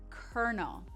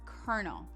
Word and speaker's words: colonel: This word is pronounced kernel. I know it looks like colonel, but it's not. It's pronounced kernel. This is someone in the military. So repeat that, colonel.